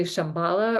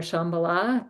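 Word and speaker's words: Shambhala: um the connection to Shambala or Shambala depending on how you want to pronounce that that star is connected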